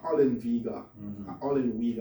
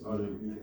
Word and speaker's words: Ollenweger: There's a scholar, Walter Ollenweger. It depends on how you pronounce the W. If you pronounce it that W, it's Ollenweger. If it's a V, pronounce it like Ollenweger. He advises that Pentecostalism today